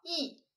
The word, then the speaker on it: 抑: 接下来这个字读作抑，压抑的抑，抑郁的抑。